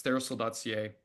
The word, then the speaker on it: TheraPsil: But it's theosol.ca. The P is silent, but um it's therapeutic psilocybin theos.